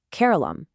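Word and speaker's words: Keralam: Notice how a familiar word like carerala phonetically becomes carolum. It just gains that really soft lamb at the very end.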